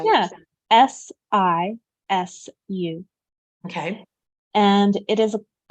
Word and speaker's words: sisu: yeah, SISU.